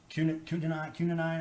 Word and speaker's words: quinine: have these, vitamin D, vitamin C, zinc, and quinine, is how do you say that right?